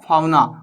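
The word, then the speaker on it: fauna: एक आता है फ्लोरा, एक होता है फाउना। फोना भी बोलते हैं, फाउना भी बोलते हैं, जैसा मन कर रहा है बोल लो, कोई मैटर नहीं करता।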